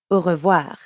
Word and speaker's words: au revoir: au revoir great notice how when french speakers say au revoir quickly it can sound like one word so in the past